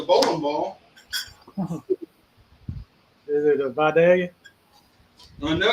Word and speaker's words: Vidalia: And that is the proper pronunciation, Vidalia. Vidalia.